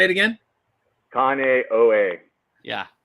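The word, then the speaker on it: Kāneʻohe: it say it again kanye yeah kaneohe kaneohe there you go it sounds like conair i think uh we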